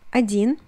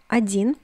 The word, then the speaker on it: один: It is один in Russian, один. Notice that the first O is read as A, один.